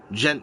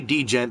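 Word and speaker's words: Djent: gent music don't say D gent because it stabs because you'll stab my heart with a kunai if you say D gen because it's spell it's pronounced gent just like that gent DJ ent gent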